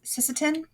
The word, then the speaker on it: Sisseton: Dakota and into Sica Hollow, and it is Sisseton.